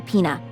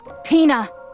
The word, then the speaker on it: Pina: No one can take Pina away from me. That's not Peina.